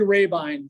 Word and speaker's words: Rabine: um it's it's Gary rabine Jim there's a pronunciation and I mean that's why I'm saying it's Ravine time so people remember that better but uh most people